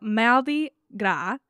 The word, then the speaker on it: Mardi Gras: but it's fine so I'm going to pronounce marra correctly one time just so that you know how to pronounce it I'm not going to do it the whole time it's too hard for my brain to flip between the two so maldi gra translate like maldi is Tuesday and gra is fat